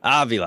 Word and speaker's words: Avila: is it Avila or Avila how do you pronounce it Joseph Avila all right okay excellent so these guys just